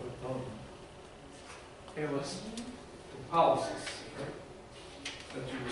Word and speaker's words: pollicis: The pollicis. That's what you were saying, right? No, so that's condition. Pollicis.